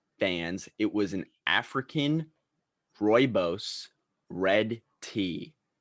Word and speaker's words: rooibos: So what are the other pronunciations? My friend Jacob, shout out to him, we were talking about it, and he said, what did he say? He said rubus. No, that's incorrect.